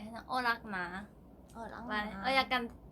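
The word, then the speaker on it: รัก: 사랑이라는 말에는 락. 락, 어. 락, 락. 그 내 이름 그 락. 아 진짜? 발음 똑같아.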